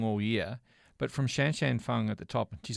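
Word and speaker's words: Shanshan Feng: you know nothing wrong all year but from Shanshan Fung at the top of tees I'm really glad that Ellie told me how to pronounce that name the opportunity that could be your 2008 sound effect Shanshan Fong every time you say at number one in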